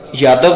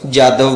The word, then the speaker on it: یادو: ہری کرشن کا لقب یادو تھا، جس کا ایک تلفظ جادو بھی ہے، اس لیے چندر ونشی